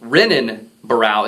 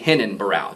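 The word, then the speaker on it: Renan Barão: the the Portuguese language the letter R has an H sound especially if it's the first letter in the word so um although it looks like it would be pronounced renin barao it's actually hinen barao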